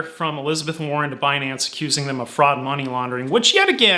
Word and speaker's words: Binance: know how to pronounce Binance. She called it Beyonce. It's like, come on, it rhymes with finance, like clearly you are